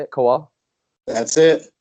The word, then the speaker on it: Kowal: That's how you say it, Kowal?